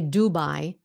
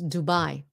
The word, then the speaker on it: Dubai: you know why because Dubai is pronounced the way the Vietnamese would pronounce it Dubai now we know